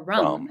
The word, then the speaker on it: Ram: they teach you is, it's spelled ram, but it's pronounced more rum.